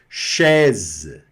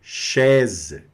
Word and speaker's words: chaise: Chaise. Olha aqui. A mais I da E. Chaise. Cadeira. Né? Esse S aqui vai ter esse som bem azedado aí no final. Né? De zé.